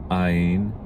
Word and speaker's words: ע: Áyin sounds, it actually is in modern Hebrew, and I would encourage you to adopt this pronunciation. Same exact pronunciation as Aleph.